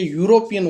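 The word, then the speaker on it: European: आई मेट ए यूरोपियन, यहाँ पे भी देखो इंग्लिश का स्वर आ रहा है ई, लेकिन इसका उच्चारण देखिए यूरोपियन होता है, इसलिए यहाँ पे क्या लगा दोस्तों, ए लगा।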